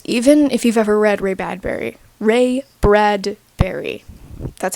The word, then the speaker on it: Ray Bradbury: Even if you've ever read Ray Bradbury, that's how you say his name, his writing is almost very poetic.